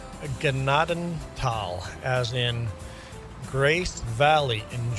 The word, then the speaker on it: Gnadenthal: Uh we are playing on Gennadal. You may have heard it pronounced as Nadenthal, but they would be wrong. This is where I grew up. It's my map. It's pronounced Ganadenal, as in Grace Valley in German.